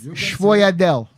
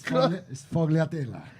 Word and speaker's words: sfogliatella: Sfogliatelle. Did I say it right? Close by. It's Sfogliatella. Sfogliatella.